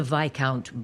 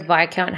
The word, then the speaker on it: Viscount: The Viscount Bridgerton, perhaps? I hate the fact the word Viscount has an S and a C in it, neither of which are fucking pronounced.